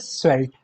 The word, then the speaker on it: svelte: Yellow slender, लीन, बिलोई और एक word है SVELTE, प्रोनाउंस्ड एज स्वेल्ट, ठीक है।